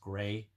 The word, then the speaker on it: gravis: i s but according to the website it's pronounced grais so we'll just say mg uh mg is